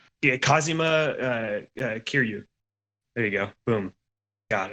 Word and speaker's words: Kazuma Kiryu: butchered that name. I got you. Hold on. The other guy is what's his Kazima. yeah, Kazuma Kiryu.